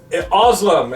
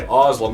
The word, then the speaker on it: Özlem: Özlem is her real name. She is the princess here in Carolon. I know how to say her first name. I know how to say Özlem because we have the fictional Özlem we've been